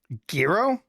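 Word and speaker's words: Gero: Gro.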